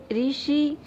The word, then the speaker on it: ऋषि: ठीक, तो रे का उच्चारण री जैसा किया जाता है पर लिखा नहीं जाता। जैसे ऋषि, ये क्या है?